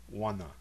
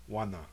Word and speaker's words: wana: Wana means now, at this time. The first syllable contains a nasalized vowel. Wana. Wana.